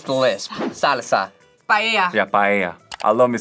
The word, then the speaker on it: paella: Paella. Yeah, paella. I love me some paella. Me too. Paella. Paella. Paella. Paella. Paella. Paella. Paella.